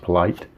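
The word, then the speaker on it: Politte: And then the right-handers, they have Bobby Jinks, Cliff Polite, I think it's pronounced Polite, Luis Vizcaino, and their closer was Dustin Hermanson with 34 saves.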